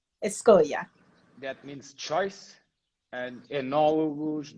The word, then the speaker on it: Escolha: So I'm going to let you pronounce this one and introduce it for us. It's Escolha. Escolha.